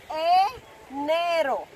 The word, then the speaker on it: enero: So January is, in Spanish, enero. Remember the pronunciation of the vowels, not e, nero, e. Enero.